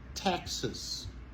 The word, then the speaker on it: Texas: Texas. Montez sur première syllabe là. Texas. C'est pas Texas, mais c'est plutôt Texas.